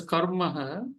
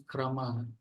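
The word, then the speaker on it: क्रमः: Now you pronounce it as karmaha, it is kramaha.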